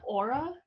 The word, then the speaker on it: AURA: pick this club called i don't know how to say this is it aura yeah yeah it stands for advocating